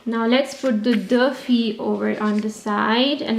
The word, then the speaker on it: filles: Remember, I'm not saying fils. No, I'm just saying filles. Il y a deux filles. You should know this pronunciation because we've done it in the previous videos. Il y a deux filles. I-double-L is E.